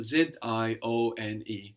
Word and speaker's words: zione: to make that Italian, we will change the shun to zione, which is spelled Z-I-O-N-E, zione. So indication becomes indicazione. Indicazione. And these words ending I-O-N-E are feminine words.